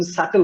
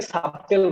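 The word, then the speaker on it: subtle: সো SUBTL, সাটেল, উচ্চারণটা হচ্ছে সাটেল, সাটেল। ইটস নট সাবটেল, ইটস সাটেল।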